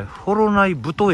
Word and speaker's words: 幌内太: て、あれフォロナイ太駅って読むってお聞きしました。